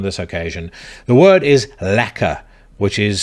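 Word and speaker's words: lekker: use it on this occasion the word is lacer which is spelled l e k k e r it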